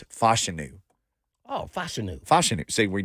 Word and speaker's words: Fashanu: easy but he said they always get my last name wrong but it's fashanu oh fashanu fashanu see